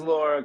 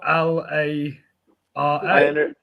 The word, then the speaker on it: Lara: one was hotter as Laura Croft or will be hotter than Angelina Jolie in Laura Croft Tomb Raider it's Lara Croft oh it's Laura here is Laura is